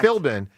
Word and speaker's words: Philbin: Philbin, yeah. Philbin.